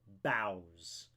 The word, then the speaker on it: boughs: how to say it, but it's pronounced boughs. Boughs. Like you're taking a bow but plural.